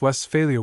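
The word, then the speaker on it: Westphalia: It is pronounced west failure with the accent on the last part where it belongs.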